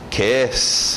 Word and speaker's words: kiss: Kiss, aquele I aberto som de E.